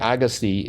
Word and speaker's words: Agassi: an Iranian American I I do know the pronunciation because lake agasi is a uh a lake in my native Canada I mean are you sure that's the way he pronounces that he's not Canadian no but that's the way it should be pronounced oh okay well I